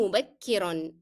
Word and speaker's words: مبكرا: أنام مبكرا. And مبكرا should be always pronounced with the sound of N, that of tanween.